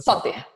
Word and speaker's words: Sother: É Soter ou Soter a pronúncia? É Soter. Soter, pronto.